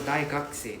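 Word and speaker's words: 大学生: say simply means right then you realize the u is silent right but however when we put it with a say behind it becomes d the u becomes silent right so the pattern you can see a bit like oh so if the u is like in the middle somewhere it's probably got chance is silent right so daki simply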